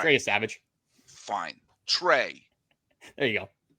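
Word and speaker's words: Yesavage: Because Trey Savage, I'm saying his name wrong. Yeah, All right. Trey Savage.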